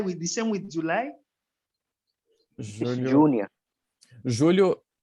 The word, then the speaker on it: Julho: Julho. Júnior. Julho is pronounced the same as the name.